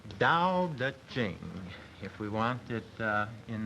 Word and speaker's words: Dao De Jing: It's pronounced Dao De Jing, if we want it in the Chinese.